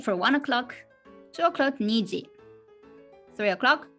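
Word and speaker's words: 二時: the time etg for one o'clock two o'clock niji three o'clock sanji four o'clock five o'clock koji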